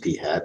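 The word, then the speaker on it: p̂: Well, in fact, it's pronounced p hat, and this is the symbol.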